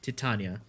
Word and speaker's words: Titania: right next frame titania yes that's how you pronounce it titania not titania inaros is his own tier now